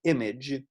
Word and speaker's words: IMG: The tag, we call it image. Most people pronounce it that way, the image tag, but it is IMG. So be very careful, IMG.